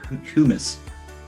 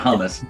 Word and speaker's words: humus: It's all humus. Humus, how do you say that? It's not hummus, that's a delicious treat.